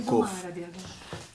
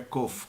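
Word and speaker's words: קוף: demais letras Tá certo quando você fala ela em hebraico é cof cof se escreve inicialmente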